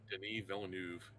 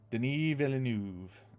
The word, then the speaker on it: Denis Villeneuve: And it's directed by a guy whose name I can never pronounce. Denis Villeneuve. Denis Villeneuve.